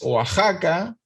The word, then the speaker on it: Oaxaca: mismo oax acá es oaxaca y lo mismo texas es tejas y lo mismo todas las cosas que tengan equis y se pueden pronunciar como j por ejemplo una palabra